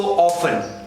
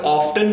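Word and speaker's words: often: हम बात करें सो ऑफें ऑफें जब हम ऑफ प्रोनाउंस करते हैं it means that a this British English और अगर हम ऑफ्टन प्रोनाउंस करते हैं सो Americans do प्रोना pronounce it एज ऑफ्टन अच्छा नेक्स्ट वन देखिए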